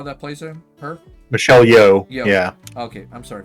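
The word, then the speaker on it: Michelle Yeoh: one is empress Georgio because I think it's Michelle Yao that plays him her Michelle yo yo yeah okay I'm sorry for mispronouncing the name Michelle yo um she Great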